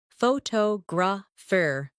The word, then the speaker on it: photographer: Some words are pronounced with extra emphasis on one part. For example, phototograph, photographer, and photographic. The stress moves and that changes the sound.